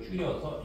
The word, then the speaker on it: 줄: 근데 이제 이것도 단위가 너무 기니까 이걸 줄여서 이렇게 써요. 이렇게. 알지? 줄. J라고 읽으면 안 돼. 줄이라고 읽도록 약속하는 거죠.